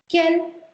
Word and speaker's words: quel: French में जब भी Q के बाद U अल्फाबेट आता है वो साइलेंट होता है U. So you've got to sound it as quel only.